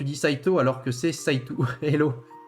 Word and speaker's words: Saito: À chaque fois, ça me fait trigger, tu dis Saito alors que c'est Saitou. Hello. Et oui, non, on prononce Saito, on prononce à la japonaise, Aksu. Hein. On prononce pas Saitou, hein.